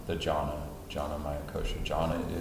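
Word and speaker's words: jnana: a yak-9 Amaya kosha you don't say the beat so it's just jhana that Jonna Jonna Maya kosha John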